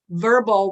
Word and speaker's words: VRBO: Verbo, VRBO, I think that's how you say it, is some people